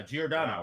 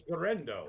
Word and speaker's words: Giordano: like Isaac Gordan yeah Giordano right that's that's how you say it in Chicago all right no it's gendo man come on I don't